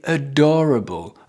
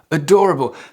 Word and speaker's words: adorable: So make sure you pronounce it and you stress it correctly. Adorable. Adorable. Okay? So you insist on the do.